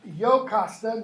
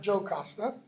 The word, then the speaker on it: Jocasta: Okay, brother of, it's pronounced Jocasta, not Jocasta.